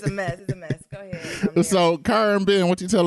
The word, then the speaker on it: Cara: Oh, side note, it's Cara. No it's shade Cara. at all. You No done said problem. her name wrong, Nero.